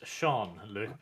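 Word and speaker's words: Jean-Luc: is Sean Sean Luke Bard oh is it pronounced sea oh okay I thought it was Johan yes no in my universe it's Shawn now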